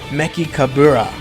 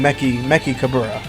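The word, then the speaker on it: Mechikabura: Empire, their leader, and the way you say his name is Meki Kabura. So think of like Dabura, but instead you're saying Meki Kabura.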